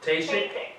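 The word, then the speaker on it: Ckacik: So the motion is to have Tasik? Kasich, Tasik? C-K-A-C-I-K. The K is silent.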